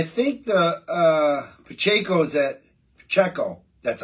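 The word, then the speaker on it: Pacheco: I think I think the uh Poo's at PCO that's how you say it PCO I want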